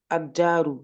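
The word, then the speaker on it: الدار: Non, on le prononce pas parce que ici, regarde, c'est pareil que là. Là, j'ai le elif, ok. Là, j'ai le lem, ok. Ici, j'ai ma Ouais. lettre. Sur Ouais. ma lettre, j'ai une shadda. Ah, et là, je me dis, attends, là, j'ai une lettre avec shadda juste avant le lem. Ben, le lem, je le prononce pas.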